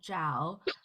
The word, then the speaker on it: Zhao: So it's ZH together is actually like a J sound. So I just right. tell them it's like Oh, and then Zhao.